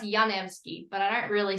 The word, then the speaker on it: Janevski: It's actually pronounced Janevski, but I don't really say that much.